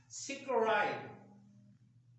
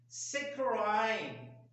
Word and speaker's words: saccharine: ये word screen नहीं होता। आप जरा गौर कीजिएगा, इसके स्पेलिंग्स को भी गौर कीजिएगा और इसके तलफ्फुज को भी। ये वर्ड होता है सिक्राइन। ये स्क्रीन नहीं होता, सिक्राइन वर्ड होता है। और एक इसका प्रोनाउंसिएशन है सैकराइन। एक सैकरीन है, एक वर्ड सैकरीन है, और एक सैकराइन है। सैकराइन इज the latest and fashionable pronunciation of the saccharine, saccharine.